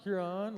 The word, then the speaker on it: Huron: I don't know how to pronounce the second word, so. You are correct. It's Huron, Lord Huron.